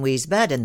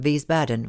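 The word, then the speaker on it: Wiesbaden: him Gretchen lived in we badden then yes but For Heaven's Sake pronounce it with a V and not a w and in three syllables instead of four Arthur answered pettishly his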